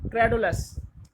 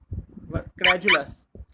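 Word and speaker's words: credulous: दूसरा वर्ड है क्रेडुलस। क्रेजुलस, क्रेजुलस, इसको क्रेजुलस भी कहते हैं और इसको क्रेडुलस भी कहते हैं। दोनों प्रोनाउंसिएशन सही है, जू भी ठीक है और डू भी सही है।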